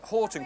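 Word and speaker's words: Hoghton: Hogton. Now, that's Horton. There's a Horton in Bolton with a U, but that's without a U, and it is actually Horton.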